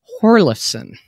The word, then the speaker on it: Hjorleifson: without further ado let me bring in horlison hey good pronunciation hey i want to know like how